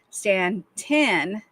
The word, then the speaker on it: Staunton: However, Staunton, Virginia, pronounced Stanton, not ton, is such a town.